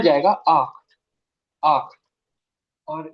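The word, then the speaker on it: acht: इसको कैसे प्रोनाउंस करना है? जीबन। कैसे? जीबन। ये हो जाएगा आख, आख।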